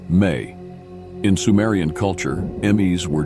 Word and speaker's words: ME: Another potent symbol related to Enki is the Emes, pronounced May.